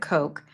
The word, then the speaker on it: Koch: Who pronounce it Coke.